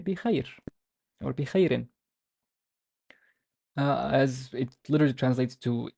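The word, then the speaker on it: بخير: So we treat the ya as a consonant and the ye sound. And the re has tanween kasra. So how would I pronounce this? Bikha, bikhairin, bikhairin, bikhairin.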